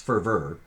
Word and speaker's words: fervor: vore for vert and it's even though there's an or an o on the end of that it's ferver went on the pronunciation